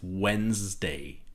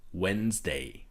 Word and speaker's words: Wednesday: The first thing about Wednesday is that the D is silent.